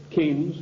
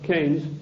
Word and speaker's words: Keynes: they sent John Maynard Keynes or Keynes he said Keynes was a better word because it arrived with it rhymes with brains and this is a